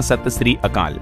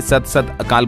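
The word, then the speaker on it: ਸਤਿ ਸ੍ਰੀ ਅਕਾਲ: इसे ऐसे कहते हैं सही उच्चारण होता है सत श्री अकाल तो राजस्थान के सीएम भजनलाल ने सत सत अकाल बोल दिया था इसके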